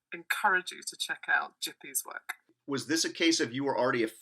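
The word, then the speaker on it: Gipi: this is a Creator called jippy I think that's how you pronounce it so it's g-i-p-i it's an Italian cartoonist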